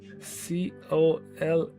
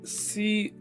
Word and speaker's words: colonel: She said COLANOL. Very, very, very, very close though. Very close. It is COLONEL.